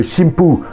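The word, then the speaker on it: しんぷう: On parle plutôt de shimpu, un mot qui s'écrit de la même manière, mais qui va utiliser les prononciations sino-japonaises des caractères.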